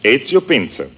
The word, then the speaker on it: Ezio Pinza: Is that the way you pronounce it? That is right. Ezio Pinza.